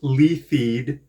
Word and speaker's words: Leithead: My name is Leithead, pronounced Leithead.